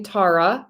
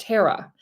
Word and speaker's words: Tara: They call me Tara because it's spelled like Tara, and that's fair, but it's pronounced Tara.